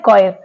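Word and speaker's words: choir: okay next word है कॉयर कोयर में जो सी के बाद एच आ रहा है वो साइलेंट है नेक्स्ट वर्ड है कॉर्ड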